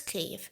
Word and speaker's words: Kyiv: variants before the war i was like well if i translate it from ukrainian to english it's cave if i translate it from russian to english it's kiev but it's never occurred to